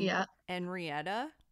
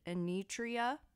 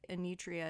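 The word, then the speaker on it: Enietra: survivor of last week's episode I kept saying yeah and rieta but in the documentary they pronounce it a nutria so okay I apologize a nutria is the correct way I believe as someone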